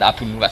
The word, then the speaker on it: Abu Nuwas: Nama cara ejaan Baghdad Abu Nuwas, bukan Abu Nawas, Abu Nuwas.